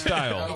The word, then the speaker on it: Steil: It's pronounced Steil.